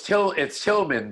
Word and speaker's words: Tilghman: Yeah, well, it's Tilghman, but when you spell it, it has a G in it.